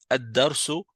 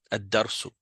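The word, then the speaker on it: الدرس: tandis que ici addarsou, on prononce pas le al, on dit juste adarsou.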